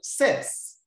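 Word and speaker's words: ces: Sets, another set, C-E-T-T-E. This time around, we have different spelling of the sets, but the same pronunciation.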